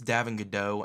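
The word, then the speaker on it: Davon Godchaux: a three-year deal now davin godeau i believe is how you say the fight it's a french name i believe it's davin godeau at d tackle his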